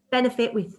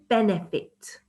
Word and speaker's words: benefit: Benefit has got 3 syllables. Benefit. So you can see that I'm stressing the first syllable, benefit. Okay, and then it gets less stressed.